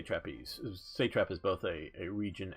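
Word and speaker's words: satrap: this they set up say traps that's the way I was taught to pronounce it in my university schools classes and those were basically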